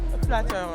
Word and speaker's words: flatteur: You're such a flatteur. Is that how you say it in French? Flatteuse for a female. Oh, what is it for a guy? Flatteur.